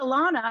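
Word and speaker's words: Allana: and she says well no how do you spell it and i said a-l-l-a-n-a she goes oh alana and i go yeah because my mom's illiterate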